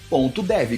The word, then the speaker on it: Qor.dev: Como se escreve cor, João? Um Q de queijo. Qor.dev. Core.